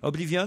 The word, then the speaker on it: Oblivion: Voilà pourquoi pour le film qui sort là aujourd'hui, Oblivion, je sais pas si je prononce. Oblivion, voilà.